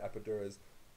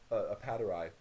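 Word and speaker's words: Appadurai: Now, what happens, I think, to extend Apadura's apadurai, excuse me, I mispronounced his name for a very long time, and I keep defaulting back to that initial mispronunciation.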